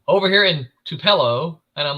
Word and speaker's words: Tupelo: says over here in Tupelo and I'm like everybody knows Tupelo that's where the king is from everybody knows Tupelo Mississippi but he said to pillow I'm like no yeah nobody can pronounce